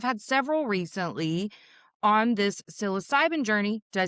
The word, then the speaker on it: psilocybin: Um, and I've had several recently on this psilocybin journey.